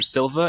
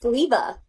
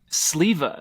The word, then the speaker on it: Sliva: And I was just telling Rudy, Hannah, I'm pretty sure I've always pronounced your last name as newcomer Silva.